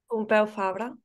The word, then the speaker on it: Pompeu Fabra: Pompeu Fabra.